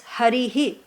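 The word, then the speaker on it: हरिः: The right, if you see how it's written, it's Harihi. Harihi, okay? Not Hari. Hari is wrong. Don't say it.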